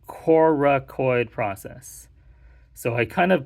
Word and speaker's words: coracoid: it this is called coracoid process so I kind of pronounce that a little bit weird because a lot of people often like Miss hear or misread it it's Korra coid c-o-r-a-c-o-i-d so just be careful